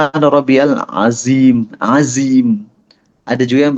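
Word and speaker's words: ربي: Subhana rabbiyal azim. Wo, wi. Subhana rabbiyal azim. Common mistake selanjutnya adalah ba-nya tidak ditasydid. Jadi banyak yang bacanya Subhana Rabbiyal, salah. Yang benar Subhana Rabbiyal, ro masuk ke ba.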